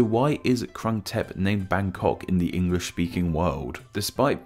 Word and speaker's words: Bangkok: from this name of Bangkok where we can see the city's proper pronunciation in English we put the G sound at the end of the first syllable hence white sounds so